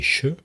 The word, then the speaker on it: je: Alors là, il y a un deuxième mécanisme, qui est qu'on va contracter et le je va se prononcer che.